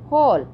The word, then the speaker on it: whole: जब H से पहले W आता है तो वहाँ W साइलेंट हो जाता है. होल.